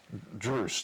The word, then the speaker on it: Druss: Well, so you put this, how do you pronounce it? Do you say Druce or Druss? Druce, D-R-U-S-S, Druce the Legend.